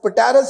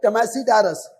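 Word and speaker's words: Tmesipteris: आगे ये P silent है, टेमेसी टेरस, टेमेसी टेरस, पटेरस नहीं पढ़ना, टेमेसी टेरस।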